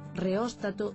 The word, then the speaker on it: reóstato: Isto explica que da mesma maneira que dicimos apóstata, en galego correcto digamos aeróstato, reóstato e termóstato.